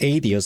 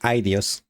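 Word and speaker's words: Aidios: So it's pronounced Adios. I keep calling it Idios.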